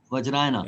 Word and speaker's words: Vajrayana: How do you This is the spell it? Buddhist Vajrayana practice that we do it in the Okay. Himalayas, Tibetan region. Vajrayana.